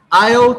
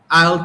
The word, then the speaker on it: I'll: You need to pronounce the little I'll here. I'll take it. I'll take it. I'll take it. Otherwise, it sounds like I take it, and it's not present. It's I'll take it. Future.